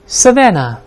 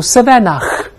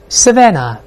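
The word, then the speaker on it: savannah: 咱们做个辨析啊，先读第一个 savanna，注意后面的 h 不发音，不要读 savanna，没这么读的，这要吐痰了就啊。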